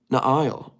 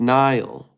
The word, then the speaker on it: Nile: Na'ile. Oh, it's Nile. Not Na'ile. Nile.